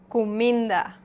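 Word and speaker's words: kuminda: For example, comida, comida. Here the emphasis is on the I.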